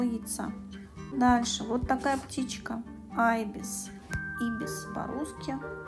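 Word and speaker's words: ibis: Айбис. Ибис по-русски. По-английски произносится айбис.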